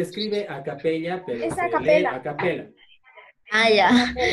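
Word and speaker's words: a cappella: No, se escribe a capella, pero es a capella.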